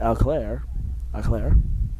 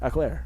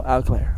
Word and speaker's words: Auclair: I went up to him the other day and I'm like, how do you say his last name? He's like, Auclair. I'm like, Auclair? He's like, no, Auclair.